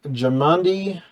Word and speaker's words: Jamandi: Jamanda or Lashin? Something like that. It is Lady Jamandi I'll spell that. Aldori. It's Jamandi, Jamandi.